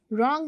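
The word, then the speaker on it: wrong: रॉन्ग में we don't pronounce W.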